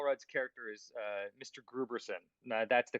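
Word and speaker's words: Grooberson: that uh paul rudd's character is uh mr gruberson no that's the correct pronunciation of his name okay thank you for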